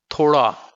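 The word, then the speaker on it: تھوڑا: Then we have the next pronunciation, which is ade, ade, as in thoda word.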